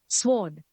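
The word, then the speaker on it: sword: the next वर्ड is that pesky W इज to blame for fooling people into thinking it हैज टू be pronounced forget about it the next time you यूज इट in conversation as इट्स a silent W it's correct pronunciation is स्वर्ड स्वर्ड the next वर्ड इज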